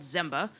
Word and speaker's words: Zemba: services, Amazon, IKEA, Patagonia, called Zemba. So it doesn't rhyme. We don't have another thing that rhymes with it, but it's still a pretty fun acronym.